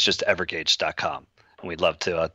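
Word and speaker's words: Evergage: continuous engagement you ever EVR and it's just ever gauge calm and we'd love to talk to you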